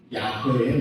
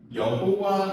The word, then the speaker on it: 야훼: 야훼의 날. 자, 야훼는 하나님의 이름입니다. 여호와 하나님으로 더 알려져 있는데요. 우리말 발음으로 야훼 하나님이 더 맞아요.